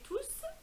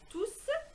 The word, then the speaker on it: tous: Donc le S final s'entend à l'oral. Exemple: les cours sur l'environnement sont difficiles, mais tous sont passionnants.